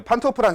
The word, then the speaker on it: 판트호프: 뭐 독일이나이 근처 죠를 우리가 알고 있는 V 발음으로 하는게 아니라 피 발음으로 한다는 얘기는 아마 독일 이쪽